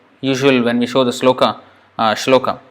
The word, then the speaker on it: śloka: when we show the sloka Slocombe it's not slow kites sloka sloka is the first one sloka and Prabhupada was